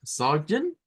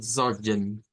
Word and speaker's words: Sorgen: Entonces, podemos pronunciarlo como Sorgen, Sorgen o Sorgen, Sorgen, con el schwa, Sorgen, Sorgen, cualquiera de las dos.